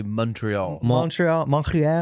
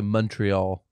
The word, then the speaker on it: Montreal: Is it pronounced, we say Montreal, but I hear you guys say Montreal. Montreal. I almost hear you say Montreal.